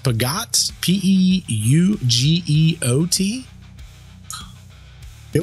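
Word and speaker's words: Peugeot: I think it's pronounced Pagot. P-E-U-G-E-O-T. I feel like we saw that in GTA, but I'm not sure. Yeah. I called it like Pidgeot, but I know it's not that.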